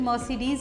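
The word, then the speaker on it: Mercedes: उसको बोल देते हैं मर्क करके, तो इसकी सही प्रोनाउंसिएशन मर्सिडीज़ होती है।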